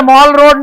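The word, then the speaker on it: Mall Road: में भी अबे अंग्रे अंग्रेजों को उच्चारण आता नहीं इसलिए माल बोलते जहां माल बिकता है उसको माल ही कहते हैं। शिमला में जाओगे तो माल रोड है। मॉल रोड नहीं।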